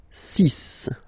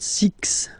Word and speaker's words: six: be careful here, because even if it's ending with this X, well, you'll have to pronounce it like S. Okay? So you get the cis pronunciation. Cis. Cis. Okay, so it's not six, it's cis.